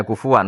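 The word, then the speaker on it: كُفُوًا: Sanad kita ke Imam Asim bacanya kufuan, tapi maknanya tetap kufan.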